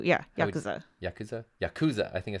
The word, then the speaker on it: Yakuza: No extra accent on the ku. Yeah, Yakuza.